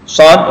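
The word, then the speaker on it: ص: Jadi shad, huruf shad itu jadi so, ada alif, dan dal, huruf terakhir itu dal disukunkan. Jadi shad. Nah, gitu ya. Shad. Jadi 6 harokat. Nah, cara membacanya itu ada 6 harokat atau 6 ketukan ya, atau 3 alif.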